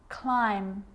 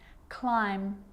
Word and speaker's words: climb: with the letter B it's always silent when it follows the letter M climb Krum lamb thumb dumb